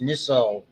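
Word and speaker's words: Nissl: When they say chromataphilic and this is pronounced nissell bodies typically we see pigmentation that red nucleus in the midbrain the substantia the black stuff.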